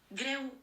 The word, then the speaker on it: Greu: How's it pronounced? Greu.